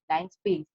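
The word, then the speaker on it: linspace: Now here also line space, it has been pronunciation is like that, but L-I-N-E-E is not there. It is L-I-N-S-P-A-C-E, line space.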